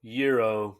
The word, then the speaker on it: gyro: You okay with that pronunciation? No, euro, but okay.